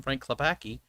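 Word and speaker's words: Frank Klepacki: wise and they didn't get the original musician frank clopaki i said it right this time don't yell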